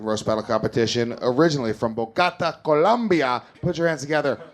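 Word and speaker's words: Bogotá: It's Bogota.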